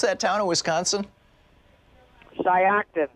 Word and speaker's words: Shiocton: Nettie in how do you pronounce that town in Wisconsin? Shiocton. Shiocton.